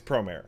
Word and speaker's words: Promare: I'm supposed to pronounce it prare. Mhm. Not prom. It's not prom. Okay. It's Promer. Yes. Promer. Got it.